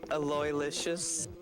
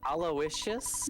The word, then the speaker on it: Aloysius: oh it's a real it's a real name and it Rhymes delicious okay good to know Gerardo